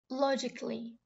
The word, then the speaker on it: logically: Logically. بنلفظ الكلمة ولا كأنه فيها A.